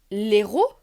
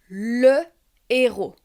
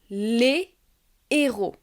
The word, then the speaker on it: héros: Je ne peux pas dire “l’héros” mais “le héros”. De même, je ne peux pas faire de liaisons au pluriel. Je ne peux pas dire “ les héros (LÉ ZÉRO)” , mais “les héros (LÉ ÉRO).